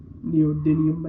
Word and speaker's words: neodymium: a rare earth metal um neodymium I think it's pronounced it's a neo-magnet Motors